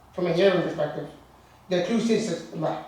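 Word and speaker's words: cluastuiscint: The Clústishtent, how do you say the word? Clústishtent.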